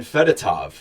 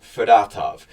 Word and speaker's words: Fedotov: to the point where I called him Ivan fedotov so now we figured out Danny Brier in this press conference it is at least the way Brier pronounced it fatov and um yeah so looking at where things